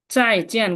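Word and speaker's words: 再见: যেটার উচ্চারণ চ যার মতো হয়, কখনো চর মতো শোনে, কখনো জর মতো শোনে। চাই, চাই চিয়েন, চিয়েন, দুইটা কি ফোরটোন।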